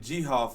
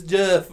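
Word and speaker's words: Geoff: were like what's up g-hoff he's like it's just it's jeff it's jeff the o is silent oh oh but no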